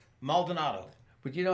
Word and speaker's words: Maldonado: Can you pronounce his last name? Maldonado.